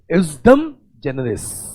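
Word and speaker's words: ejusdem generis: Next rule is a wonderful rule class, ये भी primary rule है, इसका नाम है, ठीक है, जे थोड़ा साइलेंटली हम पढ़ते इसलिए, ठीक है, एउसडम जनरस।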